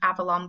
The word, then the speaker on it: Avalon: be Amazon they bought I think it's pronounced Avalon books but they're a book